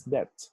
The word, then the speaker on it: debt: In the modern English, this one is pronounced as debt. This word is a borrowed word from the French language. In the 1300s, this word was pronounced as dete, dete with the word T, and det without the E or the final E sound.